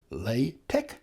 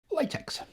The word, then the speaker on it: LaTeX: bothered about the pronunciation it could be pronounced lch latch or even latex the relationship between latch